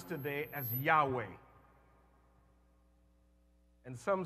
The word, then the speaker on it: Yahweh: of God the name of God which we pronounce today as Yahweh and some say Jehovah same thing supposed to be is anybody still